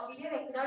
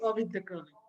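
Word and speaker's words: Ovide Decroly: así tal se pronuncia, Ovidio de Crowley. Sí, Ovid de Crowley. Ahora se lo voy a corregir, Ovid de Crowley. Si lo quieres españolizar, digo vídeo. Ovidio, ajá, Ovidio de Crowley.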